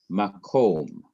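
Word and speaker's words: מקום: Ma is one syllable. Kom is the second syllable. It is also the last syllable. Notice again, there is no accent that is placed on this syllable because that is where the accent normally is placed.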